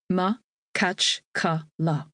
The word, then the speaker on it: Makhachkala: Makhachkala, the capital of Dagestan, is pronounced Ma-kach-ka-la.